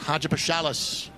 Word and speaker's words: Hadjipachalis: Christos Hadjipachalis. Thankfully, it pronounces just as it spells. All 5 syllables for the native of Cyprus, getting his 2nd start of the season.